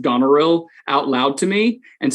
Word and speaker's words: Goneril: I will be playing Goneril, not Gonorrhea. This is my first time here, and I'm really, really excited.